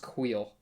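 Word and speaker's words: Kuiil: I think it's pronounced Kuil. I'm pretty sure that's how he says it.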